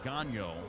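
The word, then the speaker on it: Gagnon: at six 495 pounds his name spelled G a G you know n pronounced gallo now Ronald to Reyes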